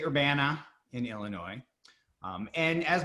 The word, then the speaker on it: Urbana: and i do want to thank brenda for pronouncing that right we do say urbana in illinois um and as my bio mentioned